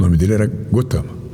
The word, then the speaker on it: Gautama: era o nome dele gotama escreve-se gautama pronuncia-se gotama ele tem vários títulos